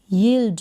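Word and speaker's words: yield: वाई को पढ़ा य, ई, आधा ल और ड, यील्ड बन गया। ये क्या बना? यील्ड, यील्ड। एल को ल और ड, तो एल का पूरा प्रोनाउंसिएशन यहाँ पर नहीं होगा।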